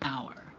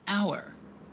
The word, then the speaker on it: hour: We say an hour. Why? Because the H at the beginning of the word hour is silent. So the first part that is pronounced has a vowel sound, an hour.